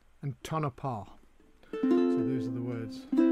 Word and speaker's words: Tonopah: I've been asked to explain the word or to pronounce the words. It's Tucson, obviously, Tucumcari, Techepi, and Tonopah.